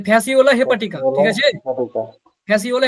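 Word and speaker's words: Fasciola hepatica: যকৃৎ ক্রিমের উচ্চারণ কি? বলো। হেপাটিকা। এই যে ফ্যাসিওলা হেপাটিকা, বলো ঠিক আছে?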